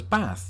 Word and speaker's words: bath: As you can see, I say it as bath. Not too dissimilar, in fact, to how most Americans would say it. Yeah. I think they're expecting me to extend the A like a lot of people in the South do, but I'm from the North, and we do things differently in the North.